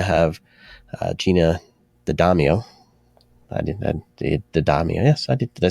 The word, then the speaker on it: D'Addamio: I did D'Addamio. Yes, I did. Did I say it right? There we go. Yeah, D'Addamio.